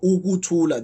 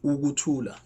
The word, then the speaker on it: ukuthula: So a word like ukuthula, don't worry, we'll learn all this in class tomorrow. So ukuthula, there's you, and then a, ukuthula.